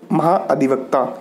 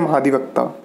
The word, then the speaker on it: महाधिवक्ता: Advocate general को हिंदी में महाधिवक्ता कहते हैं, हिंदी में कहेंगे महाअधिवक्ता, या इसे हम प्रोनाउंस करते हैं महाधिवक्ता।